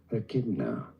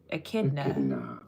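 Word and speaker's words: echidna: Kid British pronunciations are rather similar here. Pretty straightforward once you know. Akidna. Akidna. Akidna.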